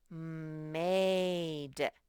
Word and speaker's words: made: And remember, the long sound is his name. Made. And the evil E is silent because he's a bully.